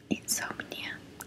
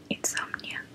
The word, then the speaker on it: insomnia: Insomnia, claro. Es una palabra muy similar a la del español insomnio, solo que la O se cambia por como si pronunciara una A. Insomnia.